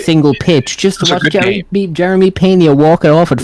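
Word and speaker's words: Jeremy Peña: Watched every single pitch just to watch Jeremy Pena walk it off at 5 in the morning. I fucked off to bed. Yeah. Jerry Pena. I feel like I fucked off the bed as well. Jeremy Pena.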